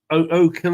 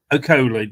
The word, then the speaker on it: Okoli: O'Kill or something, is it? I don't know how his name's pronounced. Caleb Okoli. Okoli, that's it.